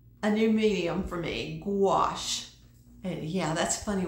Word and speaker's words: gouache: new medium for me, gouache. And yeah, that's a funny word, isn't it? Gouache, like G before the word wash, but that's not how you spell it.